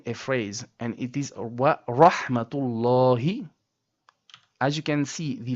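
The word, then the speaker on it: ورحمة الله: And then, the last ha in the word Allah is from the bottom throat. So, wa rahmatullahi and not wa rahmatullahi. No, or not even wa rahmatullahi. Not correct. We say wa rahmatullahi.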